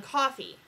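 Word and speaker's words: Coffey: your name is coffee and coffee's like well yes like the drink just not spelled the same and so so that's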